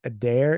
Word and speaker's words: Adair: written and so it the way I pronounce it is a dare is that is that